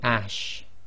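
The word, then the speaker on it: اَشْ: It's simply ash, as in the English word ashes.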